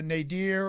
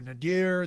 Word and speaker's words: nadir: of the chart and then you also have the nadir or nadir there's different ways to pronounce it that's the bottom of